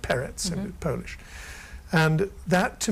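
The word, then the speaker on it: Perec: by George peret p r e c but pronounced rather like peret in Polish and that to me it's difficult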